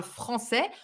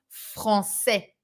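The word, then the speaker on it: français: and you know that we put this little thing under the sea to avoid a pronunciation mistake that would be je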